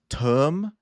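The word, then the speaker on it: TOEM: Like, it's it's pronounced like t u u m, but it's like two syllables kind of together, you know, like it's term.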